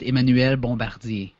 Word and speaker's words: Emmanuel Bombardier: Well, actually, it's French. I'm French-Canadian, so it's pronounced Emmanuel Bombardier.